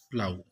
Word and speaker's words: plough: এটা হবে প্লাউ, PLOUGH, প্লাউ। উচ্চারণ হবে প্লাউ।